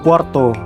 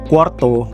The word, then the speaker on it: cuarto: Tương tự như thế thì chúng ta có từ cuarto.